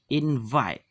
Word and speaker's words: invite: Ini dibaca V ya, jangan F. Invite.